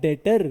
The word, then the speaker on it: debtor: डेटर। क्या बुलाते हैं उसको? डेटर। अच्छा, लिखते लिखते डेबिटर है पर बुलाते डेटर है।